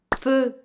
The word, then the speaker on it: peu: But in a nutshell, basically you just have to look, do I have a consonant sound to pronounce after my EU? In the same beat, of course. If there is a consonant to pronounce after, you pick the open E sound, but if not, you pick the closed E sound.